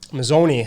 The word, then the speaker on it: Mozzone: I've got Joseph and Anthony how do you pronounce last name mazzoni mazzoni uh how do you pronounce the Italian